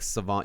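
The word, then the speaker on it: Salvon: no it's not but his name is like savant you pronounce it like savan akhmed i think i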